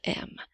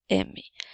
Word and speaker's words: aime: avec le mot ami lorsque tu vois les lettres A i ensemble ça fait le son et il aime comme dans